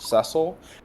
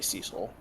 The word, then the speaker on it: Cecil: I think his name is pronounced Cecil, and if I'm doing it on purpose, I'll try to say it that way. Like, I know that's correct, but I'm just gonna instinctively say Cecil.